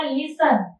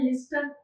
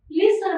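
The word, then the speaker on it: listen: एसटी एन तर बघा लिसन इथेटी च प्रोन्सशन होत नाही इथे काय आहेटी हे सायलेंट आहे लिस्टर म्हणतो का आपण लिस्टन नाही काय म्हणतो आपण लिसन म्हणतो म्हणजेटी चटी काय आहे इथे सायलेंट तर सायलेंट कुठला शब्द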